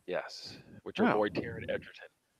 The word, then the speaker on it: Taron Egerton: And so this was a movie, obviously starring Kevin Spacey and what am I pronouncing his name right? Taron Egerton.